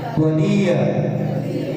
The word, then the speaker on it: त्वदीय: त्वदीय, त्वदीय। डी को लंबा करो।